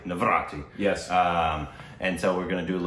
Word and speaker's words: Navratri: say it for me again, so I don't mispronounce it. Navratri. Navratri.